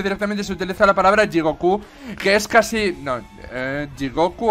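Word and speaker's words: 地獄: se utiliza la palabra Jigoku. Que es casi... no, Jigoku o Jigoku. Jigoku. Es que es como Jigoku. Es que es una pronunciación un poco rara. Es como... no es ni llana ni aguda, es Jigoku.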